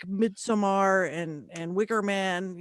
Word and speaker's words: Midsommar: That was just Midsommar is how it's pronounced.